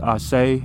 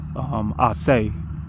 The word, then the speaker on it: Asa: It's pronounced Ashe, or sometimes it's pronounced Ase, but it's a name they give Jesus.